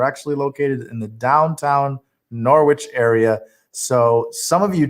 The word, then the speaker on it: Norwich: in a place called norwich some call it knowledge there's like this accent in this city and that's how they say it norwich connecticut uh it's